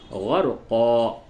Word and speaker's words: غرقا: استعمال کیا جاتا ہے۔ ایسے تو ہجے میں آپ کہیں گے قاف دو زبر قن، غرقن، لیکن جب آپ یہاں پہ وقف کریں گے تو ہو جائے گا غرقا۔ تو یوں پڑھیں پوری